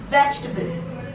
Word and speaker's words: vegetable: A also will be silent. So vegetable, vegetable.